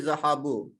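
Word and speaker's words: ذهبوا: Even we don't pronounce this alif. This alif only to protect the pronunciation of the zahabu.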